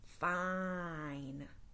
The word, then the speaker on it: fine: fish has a thin now we'll add the magic silent e he will lean over tickle the bell to say his own name fine fine I feel